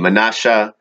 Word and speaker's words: Manasseh: But there was that connection of Judah, the tribes of Manasseh, or pronounced Hebraically Manasseh, and Ephraim, the sons of Joseph, the biological sons of the great prophet Yosef, Manasseh and Ephraim.